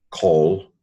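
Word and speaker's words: כל: Okay, so this is a short O rather than a long A. So this is a kamatz here, a long A, an A with a line on the top. This is just an O.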